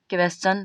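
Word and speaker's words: question: क्या आया है, ION, तो यस और ION के बीच में कौन आया है, टी आया है, तो इस टी का उच्चारण क्या होगा, च होगा।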